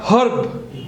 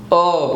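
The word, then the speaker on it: herb: इज H again from हियर इट इज नॉट हर्ब इट इज अर्ब what is इट क्या बोलेंगे हम अर्ब पछी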